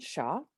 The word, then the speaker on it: Shiah: I'm Shaw, and if you're wondering, that's how you pronounce it. It's Shaw.